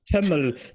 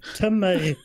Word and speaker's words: Tømmer: No, not Tømmel. Tømmer.